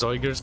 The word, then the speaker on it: Zygor: I think it's pronounced Zoiger's guide, but I like Zigger.